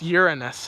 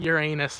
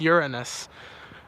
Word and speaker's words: Uranus: It's actually pronounced Uranus. It's not Uranus like most people think it is. It's Uranus.